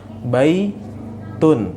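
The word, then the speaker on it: بَيْتٌ: Ada nggak nunnya di situ? Secara tulisan tidak ada. Namun secara bacaan ada nggak? Ada. Ya, itulah tanwin. Baitun. Ya, makanya baitun di sini secara penulisannya, secara bacaannya seperti apa? Lihat setelahnya itu secara bacaannya baitun. Ya, bacaannya nunnya muncul.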